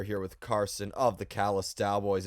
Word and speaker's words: Callous Daoboys: Once people realize that it's the Dallas Cowboys with the letters reversed, they're usually like, "Oh, okay, I get it now."